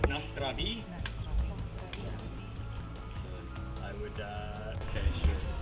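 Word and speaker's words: na zdraví: It's pronounced Nastravi.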